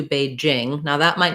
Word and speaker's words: Beijing: a long time um in english people said beijing that's not really correct it's closer to beijing now that might not